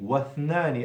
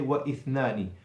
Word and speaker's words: واثنان: So when you're continuing, like I just gave you an example of it, then you don't pronounce the hamzat al-wasl.